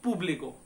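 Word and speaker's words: público: पहला होता है ये पुब्लिको, जब ऊपर लग गया तो इस पे ज्यादा आपको वजन देना है, पुब्लिको, ठीक है, पुब्लिको।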